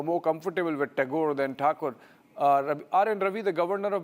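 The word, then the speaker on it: Thakur: uh you know the the Bengales prefer to call him Tagore uh originally Takur and uh in Hindi I think they still call him Rabinat Takur but in English it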